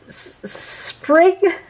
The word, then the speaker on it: sprig: It's not spring because it's no N. Sprig punch.